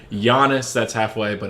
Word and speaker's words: Giannis: Apparently, it's a hard E sound at the end of his name. Giannis, It's really? not Giannis, it's Giannis. Oh, I didn't know I that. asked him how to actually pronounce his name, and he's like, "Yeah, don't worry, everybody pronounces it wrong." So now I'm trying to, and it's Correct not, yourself. and it's also a soft O. It's not Jonas.